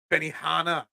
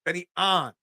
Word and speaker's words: Benny An: that he shot yesterday Benny Hana no it's Benny an I'm fixing your pronunciation yeah seriously you guys